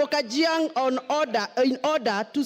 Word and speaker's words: Gachagua: all first of all pronounce my name properly I'm Nota I am kajang not Kang number two Mr Speaker